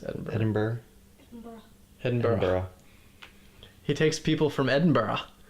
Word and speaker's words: Edinburgh: How do I pronounce Edinburgh? Edinburgh.